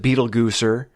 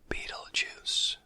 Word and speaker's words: Beetlejuice: So Adam mispronounces it Beetlegooser. On a wind suddenly blowing through the trees, we hear the ominously whispered pronunciation. Beetlejuice. Barbara repeats it.